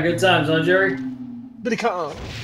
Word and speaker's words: Billy Kane: Billy Kane. It is pronounced Kong, but it's spelled Kane.